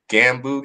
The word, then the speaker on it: gganbu: Pronounce me if I'm saying this wrong. The gganbu gang. G-A-N. gganbu gang.